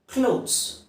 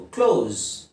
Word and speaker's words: clothes: So next ಪದ ಸ್ನೇಹಿತರೆ, ಕ್ಲೋತ್ಸ್. ಬಟ್ಟೆ ಬರೆಗಳು. ಕ್ಲೋತ್ಸ್ CLOTHES. ಕ್ಲಾತ್ಸ್ ಅಂತ ಹೇಳೋದು ತಪ್ಪು, ಕ್ಲೋತ್ಸ್ ಅಂತ ಹೇಳೋದು ತಪ್ಪು. ಕ್ಲೋಸ್ it's very similar to ಕ್ಲೋಸ್, ಮುಚ್ಚುವುದು. CLOSE ಅದೇ ಉಚ್ಚಾರಣೆಯನ್ನು ಇಲ್ಲಿ ಹೇಳಿದ್ರಾಯ್ತು. ಕ್ಲೋಸ್.